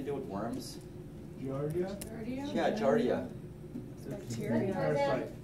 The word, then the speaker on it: Giardia: Yeah, giardia.